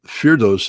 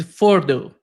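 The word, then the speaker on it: Fordow: Um, Feros, um, Ferdos is an underground facility, but originally Ferdos was part of a series of evacuation sites created by the by the Iranians.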